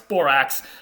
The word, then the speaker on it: borax: medieval latin word borax borox which we would today pronounce borax and this was probably